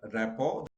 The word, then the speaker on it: rapport: Rapport, like the teacher, and the pronunciation is written here, rapport. The new teacher developed a very good rapport with his or her student, not rapport. Okay, no, T is silent.